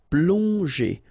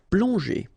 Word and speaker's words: plonger: got these two letters, so pl together, on, plong, and then g and normally that's the sound j. Okay, so here you get, obviously, as usual, the ending er, so you pronounce it e.